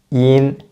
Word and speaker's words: yin: Yin. When pronounce the yin sound, first, please get a perfect E at the beginning and then just add an N sound at the end.